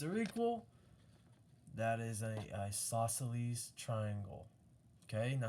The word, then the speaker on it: isosceles: Remember those two S's. Isosceles. Okay? All right, so right here I'm going to say isos, and then celes. Okay, isosceles. And that is obtuse because we have that real big angle there.